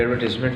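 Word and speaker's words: advertisement: अब इसको एडवर्टाइजमेंट नहीं पढ़ेंगे, क्या पढ़ेंगे? एडवर्टाइजमेंट। तमाम प्रोनाउंसिएशंस में ये एडवर्टीज़मेंट ही है, सवाए कनेडियन के, कनाडा वाले जो है वो शायद एडवर्टाइजमेंट जो वो कहते हैं, लेकिन हमारे लिए जो रिसीट प्रोनाउंसिएशन जो वो सबसे एक्सेप्टेबल है, तो उसमें बेटा इसको क्या पढ़ेंगे, एडवर्टीज़मेंट पढ़ेंगे। ठीक है, सेम जैसे वाइल्ड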